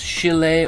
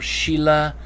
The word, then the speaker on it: Schiele: I've heard pronounced as Chile or Sheila. Um, you know, literally like you think of the the woman's name Sheila. I often hear people refer to Egon Sheila or Sheile, you know, I've I